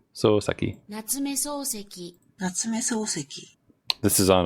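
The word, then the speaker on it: 夏目漱石: So it's not Sosuke, it's Souseki.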